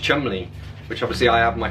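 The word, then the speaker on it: Cholmondeley: bolder or something else like chumley is actually pronounced chumley which obviously i have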